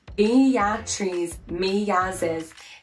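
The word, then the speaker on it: Beatriz Milhazes: Beatriz Melhazes, pronounced Beatriz Melhazes, is a contemporary artist born in 1960.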